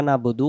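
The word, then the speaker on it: نَعْبُدُ: জবর না বাব পেশ বু দাল পেশ দু নাবুদু নাবুদু নাবুদু যদি বলি নাবুদু ইয়াকা নাবুদু আইন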